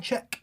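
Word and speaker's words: Zschech: Still can't believe your sister is Darlene Czech. Is that how you say it? Darlene Czech. Yep. Czech.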